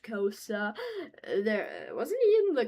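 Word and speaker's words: Xhosa: And yes, it's pronounced Kosa there.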